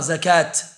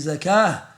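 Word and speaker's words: زكاة: On ne prononce pas le ta normalement. On ne dit pas zakat, salat. On dit zakah et salah.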